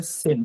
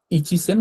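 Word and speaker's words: 千: 1000 কে জাপানি ভাষায় বলে সেন তাই না? এটাকে ইচিন বা বলে না যদি শুধুমাত্র সেন থাকে। হ্যা শুধুমাত্র সেন থাকলে সেন বলতে হবে। তো সেন কথাটা আমরা শুধুমাত্র সেন বলব। এইযে এটা দেখেন এক থাকলে শুধু সেন বলতে হয়। ইচিসেন কথাটা বলা হয় না বা ইসান কথাটা বলা হয় না এখানে এখানে আর কি তো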